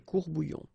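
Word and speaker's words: courts-bouillons: Un courbouillon, and then if you want to put the plural form, well, same rule, S, S, you don't pronounce it, des courbouillons.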